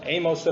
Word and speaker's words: 아모스: 파헤쳐 보도록 하겠습니다 아모스 아모스 는 a 모스 라고 발음을 하구요 영어로는 소 되어서 세번째